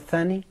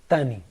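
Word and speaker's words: ثاني: At that time, we're talking about Thani. Some persons pronounce it Tani.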